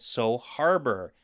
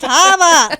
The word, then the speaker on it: So Habor: and in the audio book it's still called so Harbor and it's not so Harbor it's so Hab Haba Habor Haba it's Hab it's pronounced Haba not Haba it's Hab um yeah there you